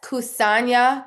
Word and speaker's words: Kusanya: Yes, Kusanya Cafe. It's spelled Kusanya.